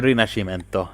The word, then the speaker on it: Rinascimento: It's Italian. I'm going to get killed for not pronouncing this right. By the Italian mob. It's Rinascimento.